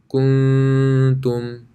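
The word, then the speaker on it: كُنتُم: This would sound like kuntum. Now this is a light ghunna.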